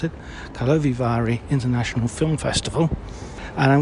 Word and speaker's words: Karlovy Vary: first evening of the opening ceremony of the Carlo Vari there you go that's how you pronounce it talovivari International Film Festival and I'm going to be